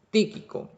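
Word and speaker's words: Tíquico: aparece es ti típico típico ahí con acento en el primer este hermano típico es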